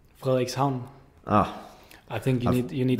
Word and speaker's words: Frederikshavn: Frederikshavn. The name? Frederikshavn.